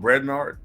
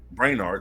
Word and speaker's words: Brainard: advisors like Jake Sullivan Steve rete and Lyall brard Brainard excuse me uh that's how you pronounce it Lyle branard frequently F filled in